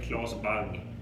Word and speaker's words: Claes Bang: In Swedish you say Claes Bang, but yeah.